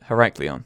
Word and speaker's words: Heraklion: So the city I found is called, I can't pronounce that. That's cool, eh? Heraklion in Egypt. Heraklion. Is that it? Heraklion.